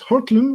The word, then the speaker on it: Hortlum: i think it's my memory is right it's hortlum which is h-o-r-t-l-m something like that but i